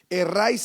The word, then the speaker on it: erráis: Erráis escribe sin h. Err e r a i s. E rais. Y lleva un acento en la a.